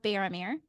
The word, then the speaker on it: Baromir: Again, today I had the privilege of talking with Eric Johnson, author of the series Tales of Bearameer. Did I pronounce it right?